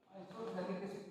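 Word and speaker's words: isophthalic acid: चलो भाई, इसका काम बताओ, आइसोथैलिक एसिड क्या है, आइसोथैलिक एसिड, पीएच साइलेंट है, आइसोथैलिक एसिड बोलते हैं।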